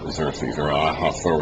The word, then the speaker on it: Xerxes: That's in 522 BC and then Xeros is how you pronounce it.